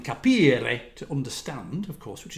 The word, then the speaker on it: capire: So this we internally referred to this as, well, capire, which is a bad, on my behalf, pronunciation of the Italian capire, to understand, of course,